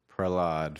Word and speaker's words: Prahlad: name I don't want to say it wrong Prell odd Prahlada aka progress that's how I grow